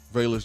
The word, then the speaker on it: Velus: Delonte Taylor, Velus Jones. Which one is it? Velus or Velus? I said it right the first time.